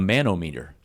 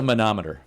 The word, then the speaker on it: manometer: I first saw this I was like a manometer a manometer right yeah m a n o